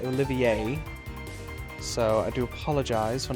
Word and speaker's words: Olivier: And oh yeah, so his name is not Olivier. I've actually been informed that it is pronounced Olivier.